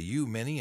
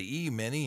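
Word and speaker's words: Uí Maine: We've got the tribes and customs of the High Mini, or some people say the U Mini, and some people say the E Mini, and I get confused when I try to think about it.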